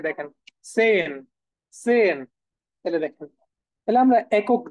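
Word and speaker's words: zehn: 10 আছে না 10 কে আমরা কি বলি সেন সেন ওকে সেন হ্যাঁ এই যে দেখেন সেন সো এটাকে হচ্ছে আমরা এখান থেকে নিয়ে নেই সেন সেন এই যে দেখেন সেন সেন তাইলে দেখেন তাইলে আমরা একক যেটা সেটাকে আগে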